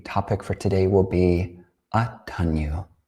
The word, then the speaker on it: Attaññū: But as we mentioned, the topic for today will be Attaññū. That's spelled A-T-T-A, Inya, long U. Attaññū, or Attaññūta, the quality of Aññā, of knowing, or the intelligence regarding Atta, or the self.